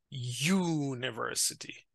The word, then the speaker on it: university: they sound like consonant a university not University like umbrella but a university and not a AU but